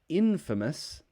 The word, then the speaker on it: infamous: for a bad reason infamous the a changes to a schwa sound the infamous infamous cool